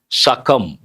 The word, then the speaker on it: succumb: Succumb. Succumb. B is silent.